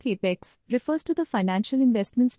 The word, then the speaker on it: CapEx: Capital expenditure, often abbreviated as CapEx, pronounced CapEx, refers to the financial investments made by a